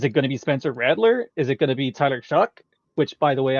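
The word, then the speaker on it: Shough: Which, by the way, I just realized how to say his name today. It doesn't look like it. Like as a choir guy, somebody that has literally studied how to pronounce things. No, it doesn't make any sense to me. No, I was over here saying Tyler Show, and nope, I'm not even close.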